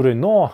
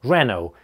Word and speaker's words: Renault: Renault, с ударением на первом слоге. Renault, или, как можно сказать, Renault. Renault, то есть вторая модель находится под напряжением. Рено. Рено, Рено. Помните, что допустимы два варианта .